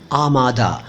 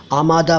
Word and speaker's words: आमादा: और उर्दू दोनों भाषाओं के शब्दों के शुद्ध उच्चारण को एक साथ समर्पित अपनी तरह का अकेला चैनल है आमादा आमादा फारसी से आया हुआ शब्द है इसका मतलब